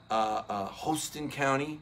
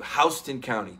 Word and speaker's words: Houston: much with, thank you, Houston County. Thank you very much, Tony Porter. It shouldn't be pronounced that way, but you're not, if you call it Houston County, everybody's like, yeah, you're not from around here.